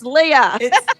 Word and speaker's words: Leah: So that's how I'm like, girl, it's Leah. It's Leah, you. not Leia.